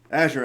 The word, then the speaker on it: Azure: to talk about is azure active directory I hate pronouncing it like that I know the color is azure but Microsoft calls it Azure um so let's talk